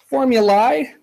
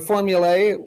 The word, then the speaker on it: formulae: By the way, before anyone asks, formulae and formulae, or formulae is another pronunciation of it, and formulas all mean the same thing. It's just the plural of formula.